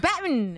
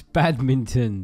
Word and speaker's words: badminton: it's what it's called Batman no you don't say it like that yes it is it's called Batman it's badminton badminton I want this badminton